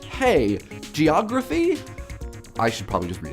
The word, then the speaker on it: hagiography: for the pronunciation guide hagiography like hey geography I should probably just